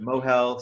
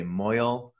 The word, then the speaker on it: mohel: that's the brisk guy but mohal some people say moyal which is the more yiddish pronunciation uh people just say mohel depends on where you're coming from okay so uh a